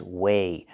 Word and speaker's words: weigh: The first word is weigh. Use a long A like day and say, weigh.